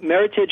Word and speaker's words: Meritage: mean first of all Meritage just rhymes with Heritage that's the easiest way to remember it oh yeah and it's